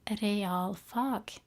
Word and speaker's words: realfag: So we say realfag, and that means maths, physics, chemistry, and science, those kind of subjects. Now it's 2 words put together, and it's spelled R-E-A-L, as in real.